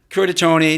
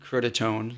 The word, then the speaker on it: Curtatone: god he's Cambridge well how do most people normally pronounce it kurta Tony there are some who say you know curtatone you know I don't correct them long story there well